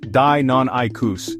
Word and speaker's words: Deinonychus: Here's the Deinonychus, pronounced Deinonychus.